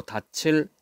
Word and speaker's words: 닻을: 그럴 때는 그대로 닻을 이렇게 발음합니다.